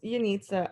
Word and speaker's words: Yanitza: it awesome okay um yanitza or yanitza will you please let me know how to say it correctly you're next it's yunitsa i thought someone was